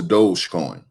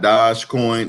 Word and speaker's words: Dogecoin: to move on to dogecoin it's spelled d-o-g-e coin so it's not dodge coin it's doge coin dogecoin has been absolutely